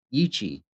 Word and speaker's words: Yi qi: Okay, so it's probably yei meaning wing and chi strange yichi respectively referring to the bizarre wings of this animal. The intended pronunciation of the name is roughly ichi.